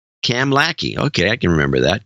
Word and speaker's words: Kamloops: It's pronounced Kamlaki, he says. Cam Lackey.